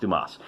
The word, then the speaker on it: Dumas: i'm kidding of course i know that it's pronounced dumas alexander dumas for those